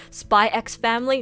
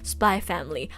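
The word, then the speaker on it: Spy × Family: x i'm pretty sure usually when there's an x in the middle you're not supposed to pronounce it that's what i've learned spy x family no no spy family hunter x hunter no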